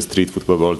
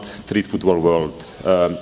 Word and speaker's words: Streetfootballworld: It's one of the most difficult names to pronounce, so in Brazil we just call it Strici. In the other parts of the world they always write it differently, but we are used to it.